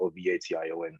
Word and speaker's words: Oveition: So Ovation, of course, it's spelled Oveition, but from what you're hearing, of course, it sounds like Ovation, and that's the root word for it. It's just a different spelling for that same pronunciation.